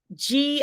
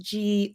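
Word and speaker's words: ghee: reduced fat spreads um g i think it's g-h-e-e i think it's pronounced g oily fish avocados these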